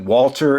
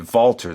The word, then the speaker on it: Walter: pronounce he pronounces it valter so i i had no idea but maybe in in the uk the w is you pronounce it with a v sound for whatever reason but